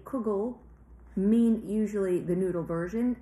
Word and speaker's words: kugel: but people who say kugel mean usually the noodle version and people who say Kegel like the Hasidic pronunciation usually mean the potato